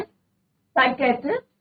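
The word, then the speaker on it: psychiatrist: To talk to, और साइकियाट्रिस्ट इसमें P silent रहता है बच्चों, साइकियाट्रिस्ट friend of mine among others.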